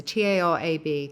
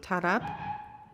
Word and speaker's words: tarab: A favorite word discovery, uh, which you will know and I I don't know quite how to pronounce it. It's a t a r a b, tarab.